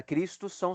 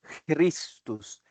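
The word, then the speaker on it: Χριστός: e no Grego é cristos cristos a pronúncia cristos a gente não tem em português este este som inicial a gente pode falar cristos para facilitar mas o som fonético é de cristos cristos OK então são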